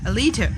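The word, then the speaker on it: Alita: nice song there's a soundtrack of this movie a leader a leader yeah Elita yeah that's how you pronounce that so it's a beautiful formula she's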